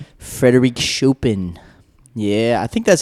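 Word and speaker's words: Chopin: Shopen. Frederick Shopen. Yeah, I think that's how you pronounce his name.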